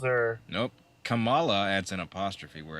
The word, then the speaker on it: Kamala: did I say Kamala it's Kamala Kamala Kamala like Pamela Vanessa join I mean